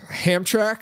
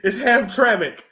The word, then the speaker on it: Hamtramck: Hamtrak? Oh, my God. It's Hamtramck.